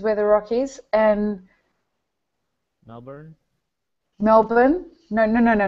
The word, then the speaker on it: Melbourne: and American and so the way that you need to say that is Melbourne Melbourne yeah I have to you have to say it like it's got an i n on the end Melbourne Melbourne that's it Mel